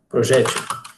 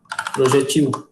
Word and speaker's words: projétil: E aqui outra palavra que pouca gente sabe também. A maioria de nós pronuncia assim, né? A maior parte de nós pronuncia assim, como sendo uma paroxítona, né? Projétil. Só que você também pode pronunciar assim, ó.